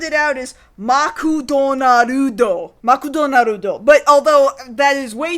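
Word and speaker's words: マクドナルド: of McDonald's in Japanese which if you just phonetically sound it out is makon narudo makudonarudo but although that is way too many syllables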